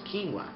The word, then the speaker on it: quinoa: Quebec but I have no idea and it's pronounced quinoa it sounds like uh something a first nationer